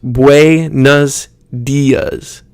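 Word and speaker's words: buenos días: In Spanish, it needs to be much more clear. So kind of think you're trying to force each syllable. For rosas, it would be rosas. Rosas. Buenos dias. Buenos dias. So you speed it up a little bit, but you're still emphasizing each syllable.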